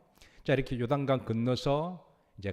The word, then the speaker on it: 요단강: 따라서 하십니다 어떤 강이라고요 발음 잘하셔야 됩니다 중간에 단자 때문에 요강이 됩니다 요단강 이쪽 내려오는 물주기가 요단강이래요